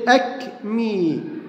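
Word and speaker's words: acme: لكن بقى شوف سعادتك، هنلاقي الكلمات دي، كلمة أك مي، أك مي معناها قمة أو ذروة، أكني، أكني حب الشباب، أبوستروفي، أبوستروفي، أبوستروفي، هنا الإي اتنطقت وهنا الإي اتنطقت وهنا الإي أيضا اتنطقت.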